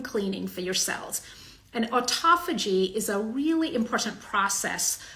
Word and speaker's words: autophagy: So autophagy, as it's pronounced, or autophagy, as it's spelled, refers to a process where cells are sort of eating themselves.